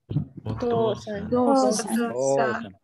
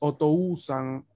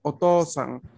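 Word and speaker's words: お父さん: Por ende, no se pronuncia como U, se pronuncia como otra O.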